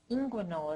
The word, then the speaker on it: inguinal: Inguinal is how you pronounce that.